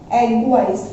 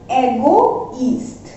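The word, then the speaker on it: égoïste: पूरा एक साथ, यानी कि एगवाइस्ट इन फ्रेंच, एगवाइस्ट। बट अगर यहाँ ट्रेमा हम लगा देते हैं तो इसका प्रोनाउंसिएशन क्या हो जाता है, एगोइस्ट, एगोइस्ट, अदरवाइज एगवाइस्ट, बट विद ट्रेमा एगोइस्ट, दैट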